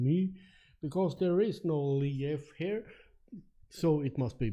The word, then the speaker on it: Leif: My name is not Lief, like L-I-E-F. It's L-E-I-F. Leif, not leaf. Not like the leaves on, because I know people pronounce that like the leaves on the tree also.